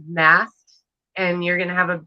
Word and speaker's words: Mast: Oh, it's MAST. Mast, like a sailboat.